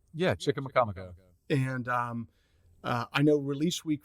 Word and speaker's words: Chicamacomico: I think I pronounced that right. Yeah, Chicamacomico.